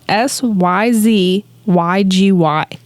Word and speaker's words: syzygy: season 3 episode 13 syzygy and I hope I'm pronouncing that right Jake is giving me the thumbs up it is sy z y gy this is a G syzygy in this episode aired